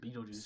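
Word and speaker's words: Betelgeuse: I mean, it's spelled differently than, you know, the goat Beetlejuice, but it's still the same word, Beetlejuice.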